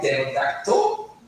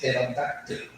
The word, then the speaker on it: pterodactyl: It's not pterodactyl, it's not pterodactyl, it's pterodactyl. She insisted on the reduced power called swab that native speakers produce in that particular syllable.